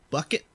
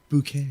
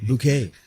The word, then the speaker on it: Bucket: what's her name beatrice bucket but no it's pronounced bouquet bouquet beatrice bouquet is it